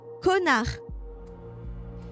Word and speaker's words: connard: This one you might not pronounce it correctly because I know the part is hard. The even more vulgar version is connard.